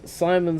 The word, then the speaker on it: Simon: me and saying, "Hey, you're not supposed to pronounce Simon's name from Gurren Lagann, Simone." I'm not calling that nigga Simone, like Raven Simone. I'm not calling that nigga. His name is Simon, bro. That's just the pronunciation the Japanese gave them because it's fucking like, come on, bro.